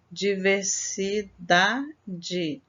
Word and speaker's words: diversidade: é a última sílaba diversidade é a penúltima sílaba e fábulas Essa é